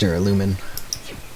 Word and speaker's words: duralumin: was the voice acting was in japanese it's pronounced duralumin we found the smaller kids for storing the